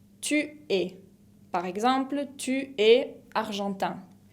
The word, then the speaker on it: tu es: La deuxième personne du singulier, c'est tu es. Tu es. Par exemple, tu es argentin. Tu es se escribe con una S que no se pronuncia tampoco la S final.